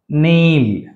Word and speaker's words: kneel: knock, not, kneel, knowledge. సో అంటే ఈ K మరియు N కాంబినేషన్లో K అనేది సైలెంట్, గుర్తుపెట్టుకోండి. నౌ, నీ, నాక్, నాట్, kneel, knowledge.